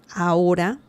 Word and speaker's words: ahora: So, si salimos, if we leave, ahora, remember the H sound in Spanish is mute. We do not say it. There is no sound. The letter H has no sound in Spanish. So the pronunciation of this is ahora. Okay, it's not ahora. No, it's ahora.